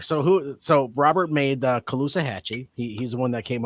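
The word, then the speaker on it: Caloosahatchee: How do you pronounce it? Calusahachi. Calusahachi.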